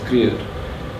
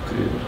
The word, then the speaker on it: Kruger: It's spelled Kruger, but it's pronounced Kreer, which is a difference between the Afrikaans in the Highveld and down by the coast. It's Paul Kreer.